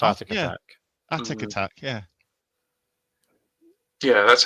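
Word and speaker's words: Atic Atac: I've heard it said as a tick attack. Which didn't make much sense, but I'm pretty sure it's Attic. I'm pretty sure it's Attic Attack.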